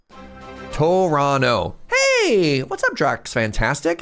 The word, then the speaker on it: Toronto: You don't pronounce most of the words written there. Toronto.